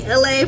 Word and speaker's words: Elay: Apparently I have a lot going on because I don't remember if I said what's up, it's me, LA, pronounced like LA, like the city.